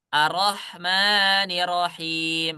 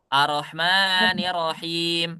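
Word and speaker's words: الرَّحْمَٰنِ الرَّحِيمِ: a-nya saya baca panjang arah betul enggak saya bacanya arrahmanirrahim Betul tasdidnya tidak diburangiilangan tas yang sesungguhnya ada berapa huruf ada dua dua huruf yang pertama su su atauak yang kedua baru yang ber berharakat kita bacanya arahmanahim berarti kita sudah mengurangi satu huruf yang berharakat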